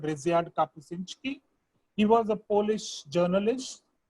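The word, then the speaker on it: Ryszard Kapuściński: I'll send you because it's a very complex Polish. But the way you say it is Ryszard Kapuscinski.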